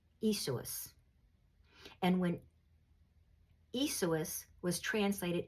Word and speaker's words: Iesous: And when the name Yeshua was translated into Greek, it became Iesous. Iesous. I had to listen to pronounce that because it's Greek and I don't talk Greek, but it's Iesous. Iesous.